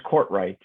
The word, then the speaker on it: Courtwright: Yes, it's Courtwright, just like it looks.